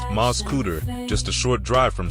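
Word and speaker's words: Mascoutah: aspirations in the rolling fields of msca Illinois pronounced MZ cutter just a short drive from St Louis lies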